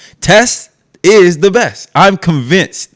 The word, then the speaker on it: Tes: Now, her name rhymes with best. Tess is the best.